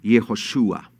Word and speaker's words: Yehoshua: los libros proféticos Josué Cómo se dice Josué en hebreo yehoshua Qué es yehoshua o